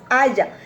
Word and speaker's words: haya: Cuando decimos aiga, y yo les digo, no se dice aiga porque aiga es un carro lujoso y ostentoso. La palabra correcta es haya.